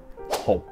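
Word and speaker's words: หก: Sáu là hụt, hụt.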